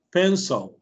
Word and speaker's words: pencil: Y este simbolito que está aquí es este se llama pronunciación chua, le decimos, el chua. ¿Sí? Entonces, esto es una cosa, es como una E bien corta. Pencil. Como que quiere pronunciar la E. Pencil. Pencil. Pencil. Parece que suena O, pero no es O.